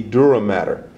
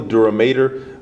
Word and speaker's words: dura mater: That is the dura matter or the duramater whichever you want to pronounce.